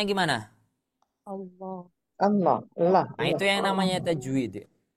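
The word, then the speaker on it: الله: tapi ketika saya tulis seperti ini maka ini bacanya Gimana Allah allahah itu yang namanya tajwid ya kenapa bisa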